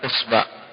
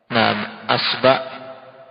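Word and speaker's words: إصبع: Dan isba' bisa kita baca dengan apa? Dengan 9 cara bacaan. Jadi hamzahnya bisa diharokati 3 harokat. Asba, usba, isba. 3 ya kan? Kemudian baknya diubah ke harokat apa? Dhammah. Berarti 3 lagi. Asbu, usbu, isbu.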